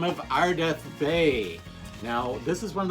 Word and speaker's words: Bey: Now, the correct one, as used on the mask here, is Ardath, and then his last name is Bay, B-E-Y, spelled like Marky Bay.